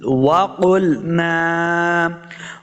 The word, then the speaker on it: وقلنا: پڑھنا ہے۔ فکذبنا وقل، وقلنا، واو کو صحیح تلفظ سے پڑھنا ہے، اپنے دونوں ہونٹ گول کریں گے تب واو کا صحیح مخرج جو ہے وہ ادا ہوگا۔ وقل، وقل، قاف کو